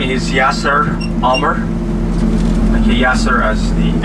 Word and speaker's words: Yasser: So the way you spell it, Y-A-S-S-E-R, just call me Yasser or Yes Sir, or the way you like.